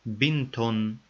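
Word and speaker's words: بنتٌ: Without al-at-ta'rif, dhamma is converted to tanween ad-dham at the end of the noun and pronounced bintun.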